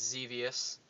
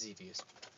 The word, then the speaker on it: Xevious: But it's another 7800 game, and it's Xevious. I believe that's how you say it. Yep. It's dangerous. It's devious. It's Xevious.